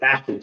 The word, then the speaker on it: Ashton: Uh, well, first I got you butchered his name and it's it's uh it's Ashton Genty, not Alan.